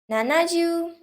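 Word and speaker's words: 七十: which have two pronunciation for four we stick to yon and for seven we stick to nana and not ji 80 is hachiju and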